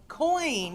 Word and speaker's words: QEon: QN, but Coin.